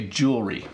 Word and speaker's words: jewellery: we don't pronounce it we don't pronounce all of the syllables we say jewelry so jewelry is how